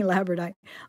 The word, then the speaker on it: labradorite: I'm trying to get that extra syllable in there. I keep saying labradorite.